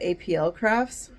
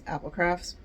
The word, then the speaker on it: Applecrafts: And so that doesn't really work because people still call it APL crafts. So that's why there's a parenthesis that says Applecrafts, so that you know how to pronounce Applecrafts.